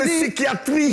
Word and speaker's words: psychiatrie: Coup de psychiatrie. J'ai dit. Coup de psychologie. Voilà. Coup de folie. Coup psychiatrie. Psychiatrie. On ne prononce pas le P là.